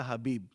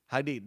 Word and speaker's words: Hadid: Bella Habib. Okay, that's how you say it? Hadid. Bella Hadid.